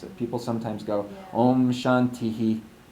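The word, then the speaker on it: शान्तिः: How do you pronounce Shanti? Shantihi. Shantihi. Slight.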